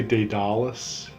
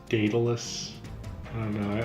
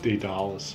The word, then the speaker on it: Daedalus: well thank you Daedalus I used to say Daedalus I think it's actually pronounced Daedalus actually like they'd Ollis better Daedalus so there's a